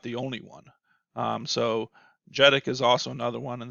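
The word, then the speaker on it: JEDEC: assignment as well but the j e d e c number or genic i think is how they pronounce it is 220. and jedick is actually another organization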